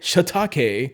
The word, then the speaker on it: shiitake: i want to clarify i could say shatake and get a really nice japanese pronunciation just for the sake of this video we'll stick to shiitake okay as well as